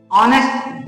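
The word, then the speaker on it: honest: एन ऑनेस्ट बॉय ऑनेस्ट यहां पर ऑनेस्ट नहीं बल्कि ऑनेस्ट अब क्योंकि ऑनेस्ट में अ की आवाज आ रही है मतलब यहां पे एन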